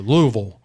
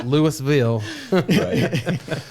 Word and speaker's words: Louisville: that's like someone saying it's a Louisville yeah Louisville yeah not Lewisville so uh but I'll be